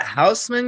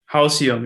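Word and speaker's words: Houseium: Is that Houseman you said? Hausium, yes. Hausium. How do you spell that? A house, you write house and then IUM.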